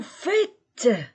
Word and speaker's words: faites: nous faisons ons vous faites remarquez il n'y a pas de Z vous faites a I